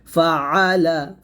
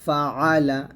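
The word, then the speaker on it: فَعَلَ: হবে আলাম তার কাইফা ফাআলা ফা জবর ফা আইন জবর আলাম জবর লা ফাআলা এখানে একটা আইনে চাপ দিবেন ফাআলা ফাআলা ফাআলা রব্বুকা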